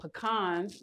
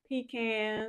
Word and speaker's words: pecan: Then we have our chopped pecans. Well, depends on where you're from. Pecans. You're from the south like I am or you going to say pecans and be all cute with it.